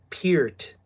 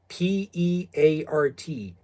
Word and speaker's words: Peart: It's pronounced Peart, Peart. Peer is in peer, T, silent T, Peart.